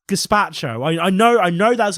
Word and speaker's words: gazpacho: says it too much I'll have some gethacha no it's gazpacho I know I know